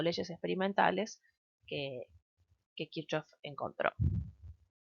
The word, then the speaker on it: Kirchhoff: Ahora lo que vamos a enunciar son las leyes o reglas de Kirchhoff. Sería la pronunciación más correcta, en general le vamos a decir Kirchhoff, castellanizado.